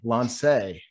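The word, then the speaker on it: Lancé: Oh, I was mispronouncing all this time. Lance. It's French.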